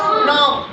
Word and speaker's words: know: इसमें भी के साइलेंट हो गया, क्या आवाज़ आएगी, नो। एक और वर्ड है KNOW, इसमें क्या आवाज़ आएगी, सुनो क्या बताया अभी, साइलेंट हो जाता है, इसकी आवाज़ आएगी नो। क्या आएगी, नो।